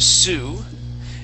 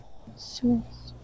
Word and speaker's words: Sioux: Now, this this word is pronounced Sioux, and the Sioux are Indians. Okay, they are Native American Indians, and this is what they look like. Sioux.